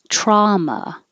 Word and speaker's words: trauma: lee currently predictable trauma i don't know why it's spelled with a u because it sounds the same as drama without a u and they both sound like ah draw drama trauma manhattan instead of manhattan